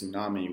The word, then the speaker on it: tsunami: So if you see a word like such as tsunami, which is spelled, I think, TSU, we don't necessarily pronounce all of those extra consonants. We usually just say the S sound, the S sound.